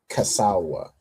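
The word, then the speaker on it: Kislev: And how do we say uh kizu kasawa? Casawa, right? And this uses a ka in Hebrew. So casawa, right, is how you say the ninth month.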